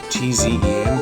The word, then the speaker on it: Tzen: T-Z-E-N, Tzen. I usually just call it Zen and pronounce the T silently.